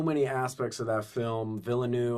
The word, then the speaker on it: Villeneuve: Villeneuve, I think is how you say his name, the director, right? Villeneuve. And I think Villeneuve, something like You that. say it like you're from Miami, Villanuevo. That's not it.